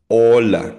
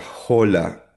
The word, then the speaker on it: hola: So again ang titik H or letter H or H sa Spanish ay silent or muda. Ola hindi siya hola. Ola.